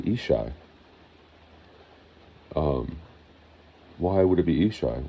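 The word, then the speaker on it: ישי: attached to my name, people say. Okay, so if you get into Hebrew, they say Ishai.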